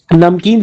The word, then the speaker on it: नमकीन: लेकिन नमकीन जब बोलते हैं, नमकीन, तो म आधा हो जाता है सर तब।